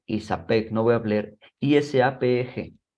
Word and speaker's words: ISAPEG: Se leen sin deletrear. Siempre se va a leer ISAPEG.